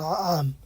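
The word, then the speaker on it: نعم: এখানে না আম লেখা আছে, এটা আইনের উচ্চারণ হয় না আম।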